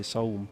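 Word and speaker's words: ZA/UM: I'm just gonna say Saum. The Estonian way, the Estonian pronunciation, pretty much.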